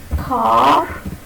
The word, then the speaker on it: car: There is a difference in the pronunciation of car in both these words. This car is mine. The R is pronounced. Okay, it is pronounced. It is pronounced. But in this word, of course, it is not.